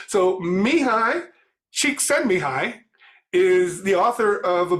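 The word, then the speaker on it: Csikszentmihalyi: still good for which is being able to pronounce people's names so mihai cheek send me hi is the author of a book called flow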